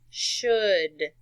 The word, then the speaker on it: should: words in a word the AL is actually silent look at this word for instance good good you don't say it like cold alright it's almost like a short u sound could would should couldn't wouldn't let's read